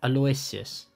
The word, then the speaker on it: Aloysius: Aloysius.